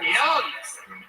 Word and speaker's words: Young: From Young. It's spelled like Yang, but it's pronounced Young. Yeah, it's with a G, Young.